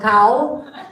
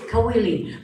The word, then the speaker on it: Kawili: I've been called Cow. That's when I was really big. And I've been called, it's Kawili.